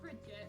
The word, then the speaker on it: Bridget: Actually, it's Bridget. Unfortunately, it rhymes with how short I am.